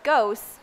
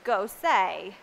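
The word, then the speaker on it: Gose: their beer vocabulary because one order of a ghost will quickly have Wyatt informing you that is in fact pronounced go say you only mistake that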